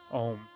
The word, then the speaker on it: Om: So the vibration, the sound that we're gonna make today is of ma, the third syllable of Om. So Om is a three syllable word. A-O-M-A.